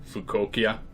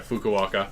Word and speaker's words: Fukuoka: be taking place in Tokyo, Nagoya, Osaka, and Fukuoka. I butchered that one. Yeah, Fukuoka.